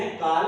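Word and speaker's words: Karl: कार्ल Benda ने। कार्ल CARL spelling है पर आर साइलेंट है।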